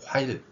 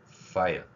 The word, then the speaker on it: 파일: 화일 전국이 알아먹는 말입니다 그런데이 전국민이 사용하는 한글로 표기되어 있지만 일본어 방식의 표기 원칙을 따르고 있는 화이이 발음도 마찬가지입니다 자를 히로 돼 있는 것을 이제 필 발에 작은 동그라미를 친 글자 표기로 바꿔 보도록 하겠습니다 파일 파일 파일 자 F 발음에 파일